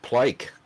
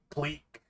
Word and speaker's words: plike: We even have this plike coin. And he pronounces it wrong. Even if I got it right, he absolutely pronounces it wrong. He's just like, pleek.